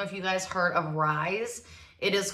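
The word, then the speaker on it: Ryze: I don't know if you guys heard of Rise. It is called, or there is spelled R-Y-Z-E.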